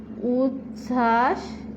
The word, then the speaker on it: উচ্ছ্বাস: জানার এখানে দেখো উচ্ছ্বাস এই উচ্ছ্বাস এর নিচে এই দেখো চয় ছয় আকার এমনি একটা যুক্তবর্ণ আছে তারপরও তার নিচে একটা কি ব আছে এই বটার নাম এইভাবে ধরো উৎ উচ্ছ্বাস এই যে এই বটা হচ্ছে তোমার অন্তস্থ ব এর উচ্চারণ হবে না অন্তস্থ ব এর উচ্চারণ হয় না উচ্চারণ হয় বর্গীয় ব